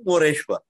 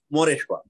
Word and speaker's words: Moreshwar: People also call him Moreshwar. Okay. Because the original name was Mayureshwar. As people start pronouncing Mayureshwar, it became Moreshwar.